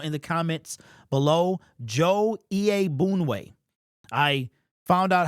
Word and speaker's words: Iyiegbuniwe: put them together is Iyiegbuniwe. So it looks way more complicated than it is once you hear him say it.